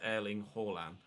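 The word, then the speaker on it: Erling Haaland: pronouncing horland's name right i've been reliably informed by a norwegian in twitch chat tron thank you mate that's you do pronounce the h but i am pronouncing it correctly other than that so it is erling hallam here's sail americas i've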